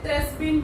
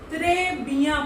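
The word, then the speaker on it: très bien: ऐसे ही इंग्लिश में अगर हमें पढ़ना होगा तो हम इसे त्रेस्बिन पढ़ेंगे, बट फ्रेंच में इसे त्रेबिया पढ़ेंगे।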